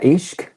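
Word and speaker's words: عشق: Sé que se pronuncia ishq, hasta donde sé, yo no he estudiado urdu, Eso.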